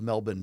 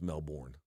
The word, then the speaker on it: Melbourne: Arena not the home of Mr NOA of Melbourne Fame but Luke it is a card okay I believe it's pronounced Melbourne no it's pronounced melbour local like listen I